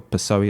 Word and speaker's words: PSOE: from the Socialist Party the PSOE or pessoa it's pronounced and when he does